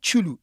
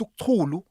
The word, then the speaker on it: Uktulu: No, it's not Chulu. It's Uktulu.